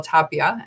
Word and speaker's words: Tapia: therapists on, LMFT, Tapia. And, you can tell me if I mispronounced your name. I'm thinking of Tapia Farms. That's what I'm remembering. That's right.